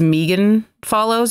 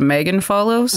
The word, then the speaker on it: Follows: Like, because she's Megan Follows instead of Megan Follows.